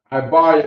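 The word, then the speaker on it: עברי: Ibar is how you say Hebrew.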